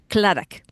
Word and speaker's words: Clarak: You got Clarak. it. Well, don't roll your R too much. You almost get to that rolled R, but then don't do it. Okay, say again. Clarak.